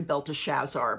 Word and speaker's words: Belteshazzar: Then Daniel, also called Belteshazzar, was greatly, it's actually Belteshazzar, but I'm just enjoying pronouncing it Belteshazzar.